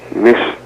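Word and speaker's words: משתה: feast in Hebrew is the word Mish it's pronounced Mish spelled in Hebrew MIM Shin T hey and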